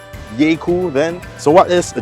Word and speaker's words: Jaecoo: A Jaecoo, the name derives from half the word Jaeger, meaning hunter, and then half the word cool, so you get Jaecoo, and perhaps it should be pronounced Jaecoo then.